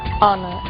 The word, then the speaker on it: honor: Blue White red yellow o som do H pronunciado desde a garganta como em hotel e mudo em três casos our honest Honor e a frase de